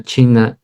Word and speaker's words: qi: Ahora, ¿qué pasaba con la cultura de la medicina china y el chi? que se escribe qi y ese qi, ese